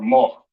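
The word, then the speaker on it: מר: And then next we have bitter or more in the Hebrew. Assyrian spelling over here. Ancient spelling over here. More. The my ra sound connect to make the word more, which means bitter in English.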